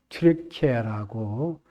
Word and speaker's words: 튀르키예: 스무나 교회에는 당시 그 소아시아라고 하면 그 어딘가라고 할 때 우리가 지금이 과거의 용어로는 터키, 지금은 터키가 아니고 그 나라에서 요청한 대로 튀르키예라고 그렇게 발음을 하죠.